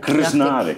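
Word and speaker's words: Krznaric: Hoe spreek je het uit? Krsnárek.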